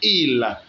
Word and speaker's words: ils: We don't pronounce ils, but il. The plural S in French is always mute.